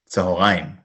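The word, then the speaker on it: צהריים: Tzahoraim. And even though there's an o sound, there's no vav here.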